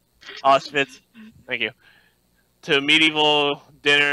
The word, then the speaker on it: Auschwitz: I don't know if I pronounced that right. Auschwitz.